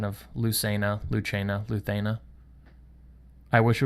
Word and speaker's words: Lucena: I say Lucena because that's how an Italian would pronounce it, and I'm just used to saying it that way, but I think it's actually Luthena, because it's Castilian Spanish, I think it is.